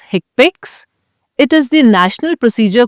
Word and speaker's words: HCPCS: The HCPCS Level 2 set is more widely recognized as HCPCS codes, which is pronounced HCPCS.